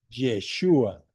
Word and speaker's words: Yeshua: O sea, Jesús en hebreo se dice Yeshua.